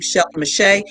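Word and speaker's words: Shelley Mechett: linkedin facebook all at my name shelf mache because i don't like things to be difficult but i will spell it for you because you know unfortunately it's not spelled how it sounds and it's s h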